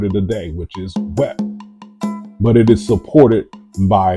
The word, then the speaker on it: Wep: So the cow's horn is pronounced Wep. So it's the whole of the word of the day, which is Wep.